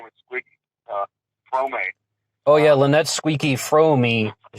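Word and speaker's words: Fromme: That's it's pronounced Frome. Yeah, Frome. Squeaky Frome. That's great. Yeah, because everybody screws that up over the years.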